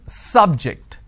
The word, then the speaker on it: subject: syllable so I say biology is an interesting subject I'm I'm stressing on the first syllable okay now I'm using another example please don't subject the students to any tests so here my stress has moved to the second syllable for example when I